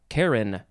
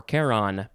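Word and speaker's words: Charon: district in eastern france okay next we have karen or caron capital c-h-a-r-o-n noun from 1513 a son of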